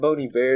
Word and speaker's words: Bon Iver: really yeah you said you say it bony bear it's like a french thing it makes me feel pretentious whenever i say it but it is it is the proper pronunciation but that song is